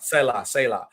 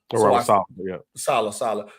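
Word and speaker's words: Saleh: The defense was definitely heavily tied to the Robert Sahi. I think I said it right. Selah. So Robert Selah. Salah.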